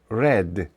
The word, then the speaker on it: read: I have the book Зверніть увагу що третя колонка дієслова read хоча написання одинакове вимовляється як Ред гігаз із homework Він